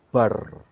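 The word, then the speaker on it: בר: Saudara akan lihat kalau saudara gabung kata huruf maksud saya, huruf Beth dan huruf Resh, itu bacanya bar.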